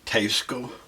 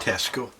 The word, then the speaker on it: Teisco: What I can tell you is that this is the Teisco guitar, and that's the right pronunciation, Teisco, not Tesco.